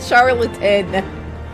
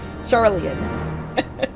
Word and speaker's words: Sharlayan: It's not charlatan. Sharlayan.